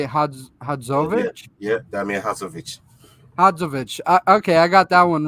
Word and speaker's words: Hadzovic: Hadzovic.